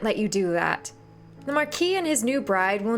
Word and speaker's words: Marquis: The Marquis and his new bride will need all the help they can get. It's the Marquise? It's the Marquis, right? You don't pronounce the S, right?